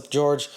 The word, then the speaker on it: Jorge: You know, I don't even know what to say, George. Like, I'm trying to be Team George here. Okay, but you got a name that starts with a J and pronounced with a G.